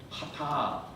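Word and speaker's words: חטא: 그래서 저것이 H 발음, T 발음, 알렙 A 발음, 하타.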